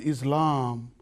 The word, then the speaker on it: Islam: A lot of people, even Muslims, said Islam. Islam. It's not Islam. Islam is darkness. Islam. From the verb aslama. Aslama. To give all what he has for Allah subhanahu wa ta'ala.